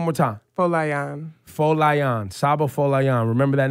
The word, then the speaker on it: Folayan: last name one more time well I am full lie on Saba Foley on remember that name give it